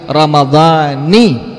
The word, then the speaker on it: ramadhani: Jadi harus dibacanya dengan kalimat nawaitu shauma gadin an adai fardhi syahri ramadhani hadhihi sanati lillahi ta'ala.